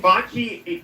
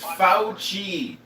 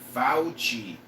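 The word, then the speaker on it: Fauci: And Botchi, but here's the thing is I understand it is easy for the right and the left to blame FI for it. His name is pronounced Fouchi.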